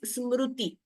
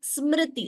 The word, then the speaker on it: Smriti: So we should not pronounce it as Smruti. Smruti would not be the accurate pronunciation. It is Smriti, Smr.